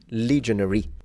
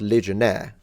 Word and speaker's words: legionary: appreciate because I learn legionary not legionaire it's a there's a difference in English these are legionaries would